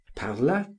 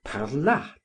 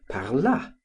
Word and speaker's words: parlât: person of the subjunctive, whereas I had always written and pronounced it parla, as in the present of the indicative.